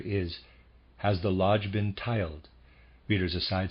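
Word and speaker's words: tyled: the worshipful master is has the lodge been tiled reader aside spelled t y l d i Am pronouncing that tiled and of reader aside the number of Freemasons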